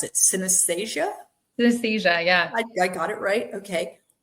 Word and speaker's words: synesthesia: I don't even know how to pronounce it. Synesthesia?